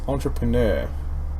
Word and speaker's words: entrepreneur: it turns out it seems the second art is silent so it's not entrepreneur it's entrepreneur like the second I just disappeared it's like